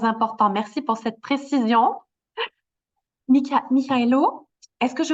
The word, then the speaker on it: Mykhailo: Mykhailo, c'est Michaelo. en ukrainien. En russe, c'est Mikhail. Et en français, c'est Michel. Michael Ah, en anglais. Mais Michael. en ukrainien, c'est Mykhailo. Michaelo.